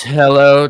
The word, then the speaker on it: Hailuo: I thought you were actually still trying to pronounce Hailuo. It's hello 2.3.